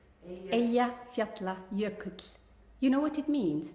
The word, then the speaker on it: Eyjafjallajökull: Eyjafjallajökull. Eyjafjallajökull.